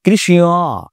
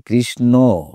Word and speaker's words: কৃষ্ণ: সুতরাং এখানে আমরা কিন্তু কৃষ্ণ, বিষ্ণু বা উষ্ণ বলছি না। আমরা বলছি কৃষ্ণ, বিষ্ণু, উষ্ণ। কেন বলছি? কারণ ওটা প্রকারান্তরে ন ছিল। সেই নই আমরা উচ্চারণ করছি।